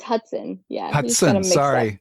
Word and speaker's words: Hutson: would be author huston how are you doing i'm doing great lou how are you too bad did i say your last name wrong you got the letters it's hudson yeah i'm sorry it's